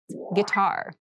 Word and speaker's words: guitar: casual clothing casual clothing guitar this word has kind of an interesting spelling it starts with GUI but we pronounce this as git so a guitar is